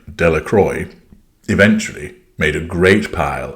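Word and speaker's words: Dellacroix: Jones and Dicky Delroy the villagers pronounced this name Delroy eventually made a great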